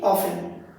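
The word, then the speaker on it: often: যে বর্ণটা চুপ হয়ে আছে উচ্চারিত হচ্ছে না আমি যদি লিখি অফেন লিখছি এটা কিন্তু অফটেন লিখছি অফটেন কিন্তু বলছি কি অফেন তাহলে এই যেটিটা এইটিটা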